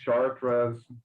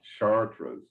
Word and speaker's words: Chartres: time because it but this would be character in french but so in english it's like okay evo as chartres but we're a little bit closer like chartres and tells of whole